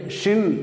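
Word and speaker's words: שִׁין: இதுல வலது பக்கம் புள்ளி வைத்தோம் அல்லது புள்ளி இருந்தால் அந்த எழுத்தை ஷின் அப்படின்னு உச்சரிக்கிறோம். அதேது வலது பக்கம் இல்லாம இடது பக்கம் புள்ளி இருந்தால் அந்த இந்த எழுத்தை சின் அப்படின்னு உச்சரிக்கிறோம்.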